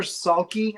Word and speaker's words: Salke: Jennifer Salke, I think is how you say her name.